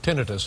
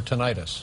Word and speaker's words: tinnitus: Looking at the information here, you and I both have tinnitus or tinnitus. Yeah. How do you pronounce it?